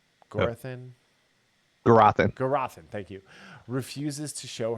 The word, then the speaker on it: Gurathin: Gurathin, thank you.